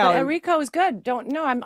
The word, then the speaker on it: Errico: But you're right now Errico is good.